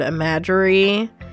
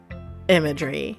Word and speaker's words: imagery: lot of poetry before I used to pronounce this word imagerie and I played this with another friend I played this with a lot with different people and she looked at me and she's like it's imagery not imagery can you